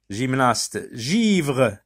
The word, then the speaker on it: givre: Givre, G se trouve devant la lettre I. Donc elle se prononce J.